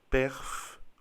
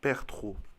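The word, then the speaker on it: Perthro: Et cette rune s'appelle perf ou pertro, dépendant de comment vous le prononcez.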